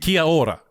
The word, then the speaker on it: Kia ora: then that's your thing, Kia ora. Is that the right way to say that? Oh, yeah, kia ora. Yeah, that's pretty much the same, bro.